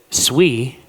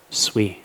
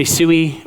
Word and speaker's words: Sui: And with Sui, by the way, it is pronounced Sui. Say it for the people in the back. It's pronounced sui but people say sooie or this guy up here actually Alex says